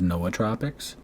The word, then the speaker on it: nootropics: nootropics I know that's wrong but the correct pronunciation is Noah tropics yeah I've done a lot of work with